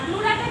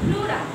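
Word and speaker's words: pleura: ই ইউ আর প্লুরা প্লুরা পি পি উচ্চারণ হবে না হ্যাঁ অবশ্যই হবে প্লুরা প্লুরা প্লুরা প্লুরা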